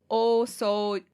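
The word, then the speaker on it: 大掃除: So it's elongated O both times, so that's why I'm saying it that way. But it's like o-soji.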